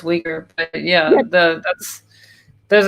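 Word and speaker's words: Uyghur: it the you're muslims where they're pronounced weaker but yeah the that's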